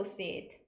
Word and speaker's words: seat: window seat, window seat, window seat. 잘하셨습니다. 이때 seat을 좀 길게 발음해 주셔야 돼요. sit 하시면 안 돼요.